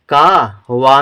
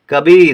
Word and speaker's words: कवि: छोटी ई की मात्रा कवि कभी नहीं कभी नहीं पढ़ेंगे क्यों कभी यानी कि बड़ी ई का उच्चारण हो जाएगा है छोटी ई की मात्रा तो कवि पढ़ेंगे कवि ठीक है ऐसे ही